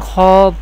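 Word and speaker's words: خاء: Ghain Kha pronounced from the top part of the throat.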